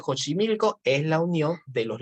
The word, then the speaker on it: Xochimilco: el pacto de xochimilco el ax generalmente se pronuncia o j que es el pacto de jónsi milico es la unión de